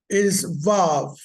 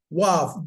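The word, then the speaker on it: וָו: Okay, our next one is Vav. Okay, the name is Wav, W-A Wav, W-A-V or W-A-W, right?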